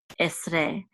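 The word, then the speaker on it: עֶשְׂרֵה: So this is s, and this shiva will not be sounded; it'll be silent. So this is s. And this is a resh with sere and a hey. Together we'll say re, esre.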